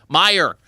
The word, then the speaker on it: Meijer: I think, is it pronounced Major? Meijer? Meyer.